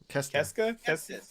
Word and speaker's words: Kestis: Kestis.